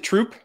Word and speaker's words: Troup: kelly troop i've never asked you do you pronounce it troop yeah yeah okay awesome so i'm here with my friend kelly troupe she's a fellow primal health coach um if